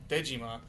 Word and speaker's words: Dejima: Um, but also the Japanese pronunciation, which would be Dejima, is a real island from that has ties to both Japanese and Dutch history and Gorilla Games is Dutch.